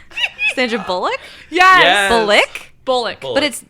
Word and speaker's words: Bullock: And it was Sandra Bullock, and it was like, I think Matthew McConaughey,